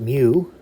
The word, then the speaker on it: mu: And it's pronounced mu, Greek letter mu.